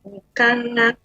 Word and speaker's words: Nkanga: My name is actually Nkanga. Nkanga. So the G is silent.